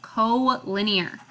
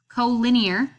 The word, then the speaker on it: collinear: ready for more so co-linear and it looks like collinear but it's pronounced co-linear so collinear if you remember linear